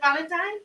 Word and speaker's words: Valentine: Valentine, you pronounce it Valentine? Yes.